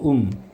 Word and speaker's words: womb: in the womb. B는 묵음이고요.